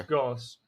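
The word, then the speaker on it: Gauss: and inbuilt G blasters now G bles I can remember how to pronounce but yeah it's Goss but they they have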